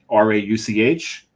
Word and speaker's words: Rauch: So R-A-U-C-H, that's Rauch. There's a little airy component in the Rauch.